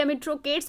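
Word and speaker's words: Amitrochates: ही was also called by the name अमिट्रो chats. अमिट्रो chats बोलिए, अमिट्रो केट्स बोलिए, अपना अपना प्रोनाउंसिएशन डिफर कर सकता है।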